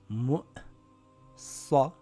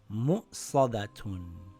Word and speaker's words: مُؤْصَدَةٌ: It reads mu'sadatun. Mu'sadatun.